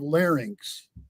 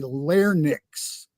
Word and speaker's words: larynx: By the way, I congratulate you on the pronunciation of larynx. Oh. A lot of people say larynx.